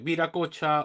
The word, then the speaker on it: Viracocha: ajá, Es Viracocha, Huiracocha, de acuerdo a la versión, ¿no? O la pronunciación del quechua, dependiendo de las regiones, ¿no?